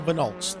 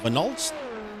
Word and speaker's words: Van Alst: That is Sam Van Holst. by the looks of it. Sam Van Alst, yes, that's how you would pronounce it, for Goldwing Motorsport.